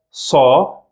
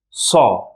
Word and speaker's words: ص: Sa. That's how we pronounce it. Sa. Don't confuse this sound with letter Se from the previous lesson.